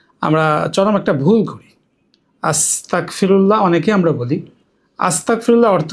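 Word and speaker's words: أستغفر الله: ভুল উচ্চারণ হলো আস্তাগফিরুল্লাহ।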